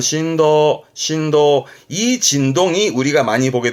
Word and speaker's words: 振動: 폭을 말하는 부분이잖아요 진폭 발음은 심프 심프 진동이 발음은 신도 신도이 진동이 우리가 많이 보게 될 겁니다 뭐